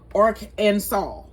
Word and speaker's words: Arkansas: And then they it wants you to know that it is pronounced Ark, like Ark of the Covenant, Arkansas.